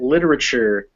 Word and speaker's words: literature: where the syllables break so it's not lit or uh it's not lit or it's literature the other thing is this little apostrophe this apostrophe comes before a stressed syllable so that's tells us that this word is literature and not literature or literature it's literature so this uh apostrophe can